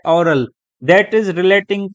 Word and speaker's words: aural: एक और लफ्ज यूज होता है AURAL, उसका भी प्रोनाउंसिएशन सेम है, ओरल।